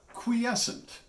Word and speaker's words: quiescent: Quiescent, or as it's sometimes pronounced, quiescent. To me, that just sounds awkward, so I prefer quiescent. Both are considered acceptable.